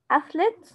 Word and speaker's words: athlete: عندي بعد كده nature، athlete، article، describe، enjoyable، measure، certainly، prefer، hobby، diagram. محمد. nature at th بنطقها كانها سه، كانه حرف السه زي ثعلب.